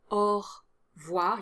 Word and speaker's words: au revoir: Definitely drop the E sound after the R, so au revoir. You go from 3 syllables to 2 syllables. It's standard spoken French, and life's too short, so just drop the E. Do pronounce the subtle R at the end of au revoir, because it would sound weird without it.